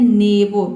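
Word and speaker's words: neighbour: दोनों वावल के बाद R से पहले दो वावल आया है तो R भी साइलेंट हो गया और दोनों वावल भी साइलेंट है यहाँ पे। ठीक है, यहाँ पे हम इसको पढ़ते हैं नेबो।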